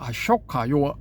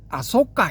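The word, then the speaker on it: अशोक: 초기불교 전문가라는 분들이 아까 아속가 이렇게 발람을 하거든요. 그 이게 이제 빨 빨리식 발음이랍니다. 아까 근데 앞부분이 쇼인데 그걸 어떻게 소로 소로 바람을 해야 되죠.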